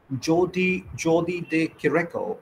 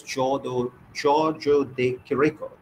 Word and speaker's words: Giorgio de Chirico: were, while writing on Jordi de Chirico, I mean, this painter, that is Giorgio de Chirico, that's the correct pronunciation, I'm sure, that Giorgio de Chirico